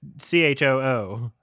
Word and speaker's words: Chu: It's CHU. It's CHOO. Choo choo choo.